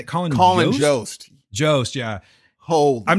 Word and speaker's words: Jost: Colin Jost.